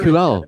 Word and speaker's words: Dankjewel: How do So, you noticed when I said my Nether Dankjewel.